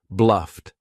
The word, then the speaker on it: bluffed: If it ends in an unvoiced consonant sound, you're going to say for Ed, this takes practice.